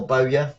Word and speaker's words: Bowyer: Nope, it's just Roberts is getting a few words of encouragement from Lee Bower. Or Bowyer, as some people pronounce it.